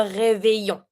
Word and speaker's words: réveillon: New Year's Eve, le réveillon. Le réveillon. When it comes to the pronunciation of this one, you see that here I have the EI and the double L. It's always the A Y sound.